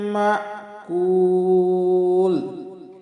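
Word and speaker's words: مأكول: মা, আমরা অনেক বলি মাকুল, মাকুল, এই যে হামজার উচ্চারণটাকে আমরা অনেক সময় করি না, এটা আমাদের মারাত্মক ভুল হবে। একটু হালকা ধাক্কা দিয়ে বলবো মা কুল, মা কুল, কুলে 3 আলিফ টান দিব।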